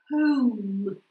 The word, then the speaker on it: home: Мы говорим «home», «roll», «phone». Я хочу слышать эту «у» в конце вашего звука, да, когда вы его произносите.